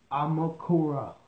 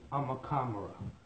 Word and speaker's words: Amukamara: And his name is Prince Amukura. I said his last name wrong. It's Prince Amukamara.